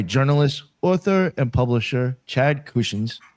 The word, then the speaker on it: Kushins: Tonight we're joined by journalist, author, and publisher Chad Kusins. Am I saying your last name correctly? I don't even know. You did. You did.